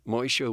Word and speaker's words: Moshe: Wow, so when you look at the spelling of it, as you did, you're not unsure about the pronunciation. And I asked him, I said, is it Moshe?